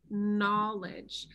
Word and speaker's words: knowledge: word no for example we could just spell it like no but then what would we do to the word knowledge see the sound changes no knowledge so it goes back